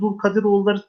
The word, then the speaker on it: Dulkadiroğulları: Evet, Zülkadiroğulları, Dulkadiroğulları değişik değişik telaffuzlar var.